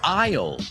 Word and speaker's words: aisle: We call that an aisle. Se escribe A-I-S-L-E. Aisle.